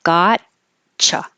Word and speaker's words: gotcha: sounds like a cha because the T and the Y next to each other make a cha sound so it really sounds like gotcha gotcha and today is my